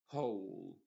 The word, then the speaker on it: whole: Diríamos who, whose, whom, whole, whole. Entonces la W acá en estas cuatro palabras es completamente muda.